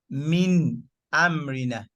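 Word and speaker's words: مِنْ أَمْرِنَا: We pronounce the mim and the nun to the very end.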